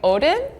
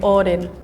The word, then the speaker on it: Odin: don't know what's happening I feel like in the US we would say Odin but it's the first time I'm reading this word okay in Finland we would say Odin uh in Iceland we say oin in Swedish we say Udin in Norwegian we say